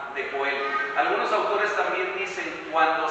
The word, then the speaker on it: Joel: Joel o Joel, como lo pronuncian en inglés, ¿verdad? Joel será una pronunciación más parecida a la del hebreo, es yo de Yahvé, de Jehová, de Yahweh, es Dios.